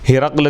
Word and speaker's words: ہرقل: بیان کر رہے ہیں۔ ہرقل کا تلفظ 2 طرح ہے۔ ہرقل، ہا کے نیچے زیر، را پر زبر اور قاف پر جزم، اور ہرقل، ہا کے نیچے زیر اور را پر جزم اور قاف کے نیچے زیر۔ اس نے 31